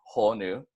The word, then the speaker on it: honu: resting there ponies are pretty simple word to pronounce no cockles no icky nose or anything like that so it's just as its displayed their whole new if you guys want to repeat it back with me that's gonna be a whole new once more and just